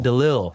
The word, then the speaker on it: Delisle: Delisle, that's right.